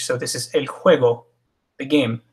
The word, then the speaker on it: juego: The J is jota, and this one's also pronounced like we would pronounce an H in English. So this is el juego, the game, juego.